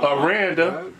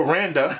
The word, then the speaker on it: Aranda: I I mispronounced your name. I say Joe Randa. That's close. Pretty close. and say it smooth enough it works.